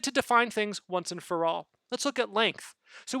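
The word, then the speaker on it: ∀: online at all and that's upside down a which is just pronounced for all you can write it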